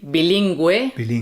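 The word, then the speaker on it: bilingüe: Okay, so when you see the U with the two dots, that means the U has to be pronounced. So that would be Gue, like bilingue, bilingual, and G-U with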